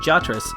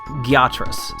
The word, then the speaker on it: Gyatras: very interesting thing about Jatras, assuming that's how it's pronounced. Wait, hold on. Gyatras, sorry. I'm looking at the kana.